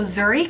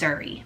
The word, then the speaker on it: Zuri: So Zuri can be spelled multiple different ways, but if you spell it Z-U-R-I, it is the Swahili translation for beautiful.